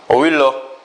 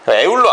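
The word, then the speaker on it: Euler: 오일러. 선생님 오일러 스펠 스펠링이 2로 시작하는 거 같지 않는데요?이 어,이 사람 스펠링이 이렇게 돼요.이 사람 스펠링이 에울러 아니에요. 율로 아니고요. 그 오일러입니다.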